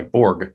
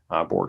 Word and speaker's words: Borg: publication uh was by borg as we say as americans it's probably pronounced berge in 1970 and the